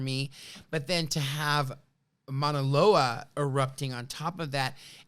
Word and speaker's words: Mauna Loa: salad at the Ivy, By the way, it's Mauna Loa. Oh, Just FYI. Just FYI. I'm so Darnella, our resident pronunciation queen.